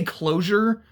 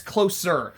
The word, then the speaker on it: Closer: I keep wanting to say closure, but it's Sorry, it's Closer.